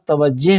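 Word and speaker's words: توجه: سر یہ آپ نے بات توجہ پڑھا ہے، یہ اس میں ہائے غیر ملفوظ ہے، تو یہ ہم بڑے یہ کر کے نہیں پڑھیں گے بات توجہ؟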